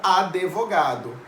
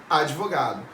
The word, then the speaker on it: advogado: para a primeira parte consoantes mudas pronunciadas como se formassem sílaba como uma vogal por exemplo muita gente fala advogado faz como que é o correto advogado quando uma pessoa geralmente